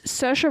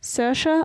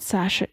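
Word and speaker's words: Saoirse: doing it all right I think it's like sersha I think it's s Sasha R it's not Sasha she's Irish yeah but how they spell it and how it says is two distinct and completely different IDE just need you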